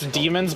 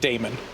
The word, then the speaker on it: daemon: It's demons, but it's spelled the weird one. Like daemons, like that. Demon. Oh, Damon. But it's just pronounced demon.